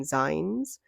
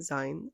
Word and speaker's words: zine: that I have some zines I recognize that they are actually pronounced Zine from magazine but I like saying sign so I will continue to do so and next to